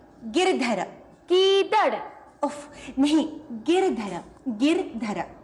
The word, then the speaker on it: गिरधर: मीरा के प्रभु गीदड़ ना गिर. गीदड़ नहीं, गिरधर.